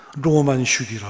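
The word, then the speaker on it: 浪漫主義: 일본 사람들이 그거를 어 일본식으로 처음 찾아하면서 낭만조의를 쓰고 지네들은 뭐라고 발음하는지 아세요?로만 로만 슈기라 그래요. 근데 우리 한국으로 들어올 때 그냥 그냥 낭만주의로 오고 어떻게 되게 낭만주의하면 로맨스만 생각하는데 아주 틀린 건 아니지만 그게 아니죠.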